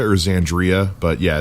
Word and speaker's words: Xandria: that's right as Andrea you pronounce X as a Z yeah it's it's either xandria or xandria but yeah it's perhaps